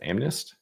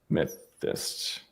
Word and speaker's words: amethyst: One of them is called, is that pronounced Amnest?